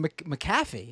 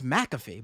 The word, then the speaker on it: McAfee: I've been saying McAfee, and it's McAfee.